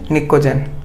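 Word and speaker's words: pnictogen: P silent है यहाँ पे, तो क्या बोलेंगे, निकोजेन।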